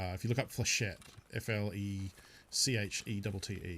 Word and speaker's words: flechette: If you look up flechette, F-L-E-C-H-E-T-T-E. I believe flechette is the correct way to pronounce it. I know some people call them flechettis.